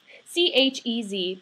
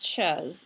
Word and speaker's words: chez: C-H-E-Z, not pronounced chez. It's pronounced chez.